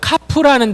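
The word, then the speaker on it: כף: 카프라는 단어예요. 카프. 카프는요. 이렇게 쓰시면 돼요. C 거꾸로. 카프. 카프는 C를 이렇게 거꾸로 쓰고 키역 발음이 나요.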